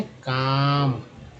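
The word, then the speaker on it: calm: एल एम में L silent है, काम।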